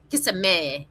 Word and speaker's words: Kissimmee: Kissimmee.